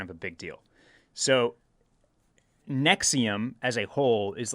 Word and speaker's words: NXIVM: are you familiar with nexium do you remember this hitting the news cycle no it's nxivm is how it's spelled yeah yeah totally unfamiliar